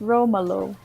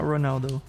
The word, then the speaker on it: Romolo: It is definitely not Ronaldo. Say Romolo again. How do you pronounce it? Romolo. Romolo. It sounds the same to me. It's Roma, as in like Rome, Roma, Roma. Roma low.